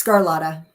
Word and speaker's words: Sgarlata: to butcher that that's that it's scarlotta oh wow that that seems a lot easier scarlotta perfect cool so